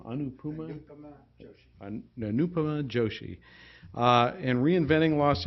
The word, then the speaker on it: Anupama Joshi: He co-authored that with UEPI staff member, how do you pronounce her name? Anupama Joshi.